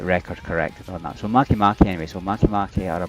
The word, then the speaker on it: Maki: I was calling them Make, but it's the way it's phonetically, Make. There's Maki. I found out after I